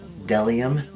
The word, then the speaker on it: bdellium: The Phase 2 bdellium, that's correct. The B is silent.